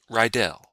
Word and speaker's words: Rydell: That's the way to pronounce it that I'm used to. It's apparently not right if you're German, but I'm not German. I grew up in Virginia. So what I'm used to is Rydell.